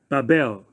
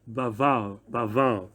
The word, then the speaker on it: Babel: Okay, so they call this word Babel, but Hebrew is pronounced Baval, and Baval, the root word for Babel is Balal.